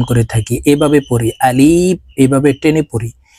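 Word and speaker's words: ألف: রাহমানির রাহিম আলিফ আপনারা আমার সঙ্গে বলুন আলিফ আমরা অনেকে এই আলিফের উচ্চারণ টেনে উচ্চারণ করে থাকি এভাবে পড়ি আলিফ এভাবে টেনে পড়ি এভাবে টেনে পড়লে সঠিকভাবে আলিফের উচ্চারণ হবে না আলিফের উচ্চারণ উপরের দাঁত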